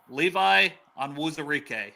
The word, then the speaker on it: Levi Onwuzurike: Pronounce his name again, Dale. What's his name again? Levi Onwuzurike.